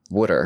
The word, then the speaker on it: water: the best thing to say in the Philly accent? Ooh. wooder water Right? Yeah. I feel like it's the easiest way for people to get on board. Yeah, wooder. Especially if you spell it w o o d e r.